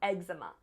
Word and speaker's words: eczema: first language psoriasis and eczema so egg like an actual egg enzama eczema and look where my emphasis is egg zama and then